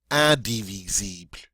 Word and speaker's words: indivisible: And in French, we have this nice nasal sound at the beginning, this IN, which is the un. Okay, un, indivisible, indivisible, indivisible.